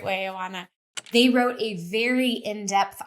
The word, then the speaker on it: Oana: me how to say it the right way Anana they wrote a very in-depth article that made